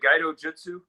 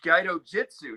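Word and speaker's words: Gaidojutsu: it jutsu is it guido jutsu guy jitsu yeah oh it's guido jitsu not not jutsu because it's i saw it so it's guido jitsu i don't know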